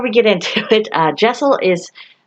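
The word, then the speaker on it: deosil: now uh before we get into it uh jaisal is spelled d-e-o-s-i-l however uh the books on my shelf tell me that it is not pronounced decil but it is pronounced jaisal for something to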